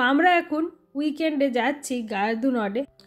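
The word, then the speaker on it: Gare du Nord: আমি যে উচ্চারণটা করলাম ফ্রেঞ্চ ভাষায় উচ্চারণটা ঠিক সেরকম হয় না, যতটা আমার কানে শুনে মনে হয় গ্যাহ দু ন বলে কিছু একটা বলছে, কারণ এরা আর্টটাকে ঠিক করে বলতে পারে না।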